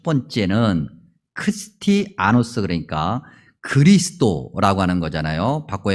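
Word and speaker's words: Χριστιανός: 그리스도인이라고 하는 이 단어를 원래 성경에 기록되어 있는 원래의 발음대로 이야기하면 크리스티아노스예요.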